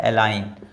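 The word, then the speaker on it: align: जैसे ये लिखा हुआ है एलाइन। एलाइन जो है वो इसमें देखिए जी जो है वो साइलेंट है क्योंकि एन से पहले आया हुआ है।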